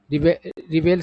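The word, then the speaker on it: rebel: इसका जो रिबेल word होता है दो तरीके से प्रोनाउंस होता है, रेबल भी होता है और रिबेल भी होता है, ठीक है।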